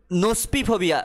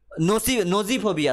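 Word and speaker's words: gnosophobia: নোস্পিফোবিয়া বা গ্নোস্পিফোবিয়া, GNOSPIPHOBIA, জি এর pronunciation হয় না, নোজিফোবিয়া, সরি নোস্পি নয়, নোজিফোবিয়া।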